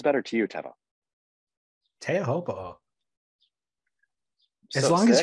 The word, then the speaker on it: Teahupo'o: Would you rather hear me, Chaz Smith, say, "Oh man, so sick, was watching Chopu last night," or "Oh man, so sick, was watching Teahupo'o last night"?